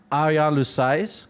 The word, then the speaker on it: Ariane Louis-Seize: Arian Lousai, that's her name.